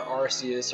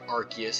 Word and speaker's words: Arceus: the pilots line Bo our Arceus or Arceus however you want to pronounce it in nosuke the primate